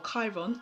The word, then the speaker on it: Chiron: opportunity for this with Chiron or Chiron I should say to pronounce it correctly he is here down